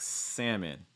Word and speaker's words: salmon: pronounced this way like salmon that's not instead of salmon or things like that typically that l is going to go silent in north america i would say okay